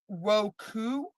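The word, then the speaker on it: Wokou: Um, I believe the word is pronounced woku, wo ko u, which is Japanese uh, translates to Japanese pirates.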